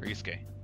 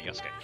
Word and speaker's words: Yusuke: Yusuke, not Yosuke. Yeah. Hey, it's me. I just pronounced it terribly.